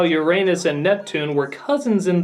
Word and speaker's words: Uranus: there really was a Sailor Uranus Uranus it's pronounced Uranus even the cloverway dub pronounced it correctly and